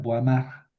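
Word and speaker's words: Boismard: Estos franceses, escriben Benoit y pronuncian Benois. escriben boismart y pronuncian boamar.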